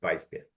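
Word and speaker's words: Weißbier: vas beer or kch did I pronounce that right Bas beer vice vice beer Vice beer oh almost wheat wheat beer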